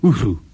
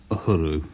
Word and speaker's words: Uhuru: John Walters thinks it's more kind of Uhuru, something like that, but I shall just settle for the more anglicised Uhuru.